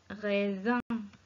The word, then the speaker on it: raisin: S entre deux voyelles se prononce Z. Raisin.